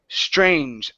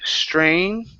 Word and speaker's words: strange: pronounce that okay um you're saying strain then it's like you're saying the word Jazz it was okay that's what I